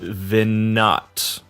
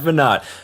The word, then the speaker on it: Veinotte: Get stoked because today on the show we have Veinotte. I pronounced that correctly, right? That was perfect. You nailed it. Okay. We have Veinotte.